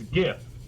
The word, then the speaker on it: GIF: Give is like a G sound. You know? Give. Give. Are you saying jiv? I'm just saying. Is if it wasn't a G word, like graphics, where you pronounce g instead of j, I would be okay with it. But it stands for Graphics Interchange Format, so it's GIF.